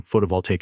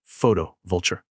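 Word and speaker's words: photovoltaic: He said this while audibly chewing gum and mispronouncing photovalttaic as photo vulture.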